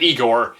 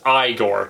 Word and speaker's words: Igor: a hunchback named Igor actually it wasn't Igor it was Igor to pronounce it correctly but ever since then